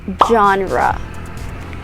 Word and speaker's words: genre: art or literature as genre genre we don't say genre or genre but it's pronounced as genre genre say it so again